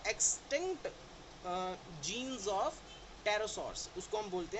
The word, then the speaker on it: pterosaurs: वो टेरोसॉर्स लाइक, देखो टेरोसॉर्स में PT से स्टार्ट होता है लेकिन P नहीं, हमने टेरोसॉर्स नहीं बोला, हमने टेरोसॉर्स बोला। टेरोसॉर्स इज PTEROSAURS, टेरोसॉर्स, right. So extinct jeans of टेरोसॉर्स, उसको हम बोलते हैं टेरोडैक्टिल।